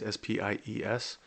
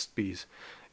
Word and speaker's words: Spies: So his last name is spelled like spies, Spies. But I do know that in German language, if there's an IE like that, it's pronounced, so his name would be pronounced Spies.